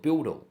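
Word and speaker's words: BUIDL: called build like building but they call it build with spelled with an L at the end like hodddle like hold spelled differently with a L at the end.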